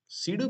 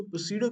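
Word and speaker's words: pseudo: इसको काफी लोग इसको प्रोसीड क्लास भी कहते हैं लेकिन ये गलत होता है गलत क्यों होता है क्योंकि इसमें जो पी होता है ना वो साइलेंट होता है तो हम लोग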